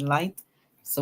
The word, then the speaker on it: lights: Here we see lights now, and we said in flights we can find the word light. So we hear L, I-G-H, I, light, we add S, lights.